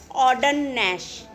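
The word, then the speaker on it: Ogden Nash: लिखी है ऑडनश ने ऑर्डन में जी साइलेंट है ऑडन नहीं बोल सकते हम ऑर्डननेश ठीक है क्या नाम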